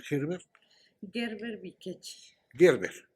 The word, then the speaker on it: Gerber: Gerber, como alimento infantil.